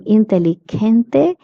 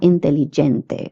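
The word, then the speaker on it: inteligente: I would like to say that G E is pronounced as he and not J in Spanish. So that's why I'm saying intellente and not intelligente. Many people have the tendency of pronouncing this word as intelligente but it is intelligent.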